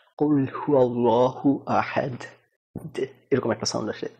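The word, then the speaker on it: أحد: যেমন কুল হুয়াল্লাহু আহাদ, আমরা বলি আহাদ দ, তারা কিন্তু দ বলে না, জিহ্বাটা উপরে লাগায় রাখলে দেখবেন একটু ডিফারেন্ট সাউন্ড আসে, কুল হুয়াল্লাহু আহাদ এরকম একটা সাউন্ড আসে, দ না।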